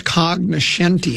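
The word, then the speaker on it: cognoscenti: Oh, it's cognenti. And what does it say? Well, it's spelled with a G, but the G is silent.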